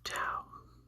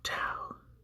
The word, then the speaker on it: tau: Next, we have tau. So tau is like the word sat. So the T in the word sat. So it's just t. And this is quite like the T in the English language.